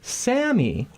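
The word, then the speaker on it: Sami: Rami and Sammy. R-A-M-I and S-A-M-I. Oh, so different pronunciation, but almost the same spelling.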